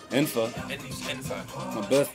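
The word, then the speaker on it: N'fa: how you pronounce your empty name infa in my birth name yeah no it's actually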